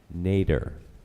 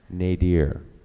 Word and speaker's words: nadir: Your word is nadir, also pronounced nadir.